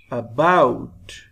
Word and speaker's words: about: Sound of A is lower than bout. About.